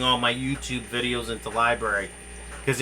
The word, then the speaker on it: LBRY: It's library. It's LBRY. Look on Google. Here, I'll post the link. Yeah, yeah, look on Google. It should be library. Yeah, it's lbry .com, like library.